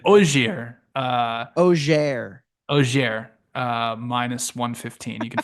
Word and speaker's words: Auxerre: you pronounce it? Okay. Auxerre.